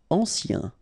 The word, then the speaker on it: ancien: Ancien. Remember, A-N, ancien.